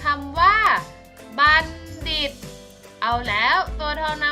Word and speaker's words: บัณฑิต: อิ อิ โต ดิษฐ์ อ่าน ว่า บัณฑิต นัก เรียน ที่ เห็น ก็ เรา มัน โทร ไหม คะ รอบ นี้ อ่าน ออก เสียง เหมือน ตัว เด็ก เลย ซ้ำ อ่ะ ผ่าน